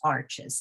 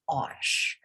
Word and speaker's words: Arches: watercolor paper is arches now we say arches with two syllables here in america but the arch paper is made in france the european um vendors and artists all refer to it as osh so but in you